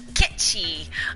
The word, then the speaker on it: Ketsu: Fun fact: Ketsu is technically pronounced. Kitschy.